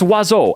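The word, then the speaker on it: oiseau: are seven of them it's pronounced wazo and yes I will die mad about it wazo hits every vowel in the French alphabet and manages to only be pronounced with two godamn sylla got vowels coming out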